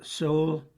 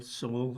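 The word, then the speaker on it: Seoul: Uh uh Soul, that's spelled S E O U L. Soul I think it's a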